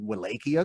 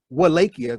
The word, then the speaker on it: Wallachia: Don't nobody know about no Wallachia. Come on. But no, the W is pronounced V.